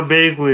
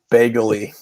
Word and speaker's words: Bagley: before the LY, so I don't know why it would be Bagley. Because Marvin Bagley, he's like his brother. So it should be Bagley. Yeah. unless he's British. I'm just pronouncing it due to what they teach you in English. There's a This is the King's English. Then the A is long.